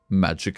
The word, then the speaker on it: Maik: Magic is... Maik is pronounced as magic, by the way.